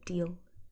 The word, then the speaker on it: deal: Dill is a kind of pickle. Deal with a long E sound is like a negotiation, a trade, that kind of thing.